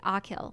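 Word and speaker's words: Achill: bridge the mainland oh they tell me how to say it Akil okay I think so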